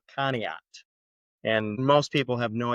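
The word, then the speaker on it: Conneaut: Family decided to move again from Blountmont, Colorado to a town in northeast Ohio called Kat. And most people have no idea how to spell it or pronounce it.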